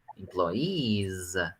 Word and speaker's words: employees: you can try to pronounce the final z employees make a b yeah that's why but that's uh but that's very long to explain why this is a z it's not an s it's not employees it's employees okay very good yes i